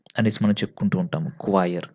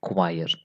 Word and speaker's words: choir: the higher University degrees choir so we have to pronounce it choir okay not choir so pronuncially so choir Masters